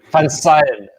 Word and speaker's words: Koen van Seijen: from sayin no word fun side okay which is Dutch and yeah and couldn't